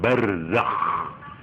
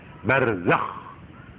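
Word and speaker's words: برزخ: Jadi semua pengalaman-pengalaman di kuburan itu yang disebut alam barzakh. barzakh. Itu ejaannya ya. Barzakh. Z, zai, kho. Harus ngoro. Nek moco ngoro. Barzakh. Nah, harus begitu. Supaya kelihatan kho. Nggak boleh barzakh. Kalau barzakh itu hak.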